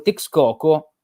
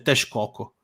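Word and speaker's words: Texcoco: il gran Mar Nazzi però si dice tes Coco la x si pronuncia SH Hai ragione si dice tes Coco Hai ragione come mesico mesica Sì sì esatto Eh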